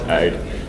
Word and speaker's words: Aodh: I'm told the correct pronunciation is AID, which is the alarming service for OpenStack. So it can. For some reason, I thought it was an acronym. No, it's an Irish name.